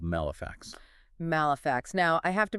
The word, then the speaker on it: Malefax: Is it malefact or is it like artifact? It's a funny detail. The source explicitly mentions this. They're guessing it rhymes with artifact. So, malefact based on the Japanese subtitle. I'm going with malefact.